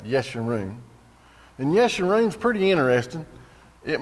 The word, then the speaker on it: Yeshurun: It says, but Yeshurun, that's how you pronounce that, Yeshurun.